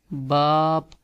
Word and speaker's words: باپ: Baap is two double a, you will make long sound like ba and then say pe, باپ، اور یو کین سے